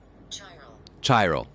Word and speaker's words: chiral: see what Siri says Siri how do we say this word let's try that again chiral okay so chai chai row okay Thank You Siri Tyrell